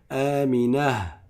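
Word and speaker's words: آمنة: Mais quand tu t'arrêtes dessus, tu l'appelles Amina.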